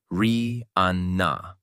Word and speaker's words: Rihanna: single, Pond Replay, she clearly introduced herself as Ri Ana. Over time, as her fame skyrocketed in the US and beyond, the alternative pronunciation became widespread.